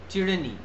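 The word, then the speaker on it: tyranny: ওয়াই টাকে হ্যাঁ এটার উচ্চারণ হচ্ছে টি র চিড়েনি উচ্চারণটা হচ্ছে চিড়েনি ঠিক আছে মানে অত্যাচার বা অত্যাচারী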